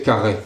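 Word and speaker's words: Carhaix: il venait de Carlin surtout faut prononcer carré faut qu'on sente le granite du coup si tu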